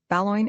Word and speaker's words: Boulogne: Baloin is perfectly correct, the correct pronunciation, said Mr.